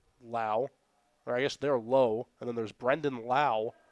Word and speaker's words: Lowe: You think, is he Lowe or is he Lau? But he's a Lowe.